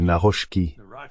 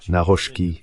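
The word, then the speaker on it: Nawrocki: Je crois que c'est Naroski. Naroski, je pense que c'est ainsi qu'il dit qu'il faut le prononcer, le nouveau président.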